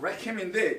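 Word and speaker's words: לחם: 자, 그게 베들이고, 베들레헴은 레켐이라는 말이 들어가요. 이렇게 쓰는데 원래 레켐 이렇게 발음합니다. 자, 레켐인데 이건 떡이에요.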